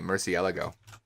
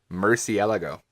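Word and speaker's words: Murciélago: The random aside, it's apparently Murcielago. That's how you say that one. One more time? Murcielago. Yeah, it's one more syllable than you'd expect.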